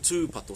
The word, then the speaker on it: tūpato: And we're looking, there's actually a macron, a tohu tō, on the U in the second word, tūpato. So we're looking for a long U sound. So it's not kia tūpato, it's kia tūpato.